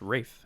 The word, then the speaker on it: Ralph: pronounced Rafe, actually. Oh, is it Rafe? I didn't know that. Rafe Fiennes.